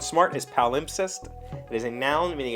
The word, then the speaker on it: palimpsest: out to be a palimpsest covering a text nearly 1,000 years old. Palimpsest. P-A-L-I-M-P-S-E-S-T. I feel like I'm pronouncing that wrong, but the pronunciation guide puts the emphasis on pal.